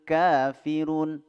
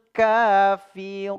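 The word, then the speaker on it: كافرون: Qul Ya ayyuhal Kafirun ka Mad thi'i ya ada Alif sebelumnya fathah ka dua harakat firun nah ini Mad Arid lisukun firun ada huruf mad thi'i Ya huruf mad thiinya di situ ada wau sebelumnya berbaris ee damah bertemu salah satu huruf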